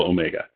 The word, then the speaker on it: omega: is the same as its first syllable is, well, ohm.